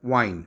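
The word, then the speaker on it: Wein: Wine is called wine, but it's written like this. Wine. The pronunciation is the same.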